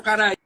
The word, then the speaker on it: Caraí: publicou Iara, coleção poemitos, poesia infantil, casa verde editora, 2011, posteriormente traduzida ao guarani pelo indígena carai ou caraí, qual o nome, como é que se pronuncia?